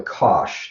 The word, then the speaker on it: cosh: And the way this is pronounced, when we get to it, we'll talk about it a little bit, I guess, or I'm sure we will. And so this is called the cosh.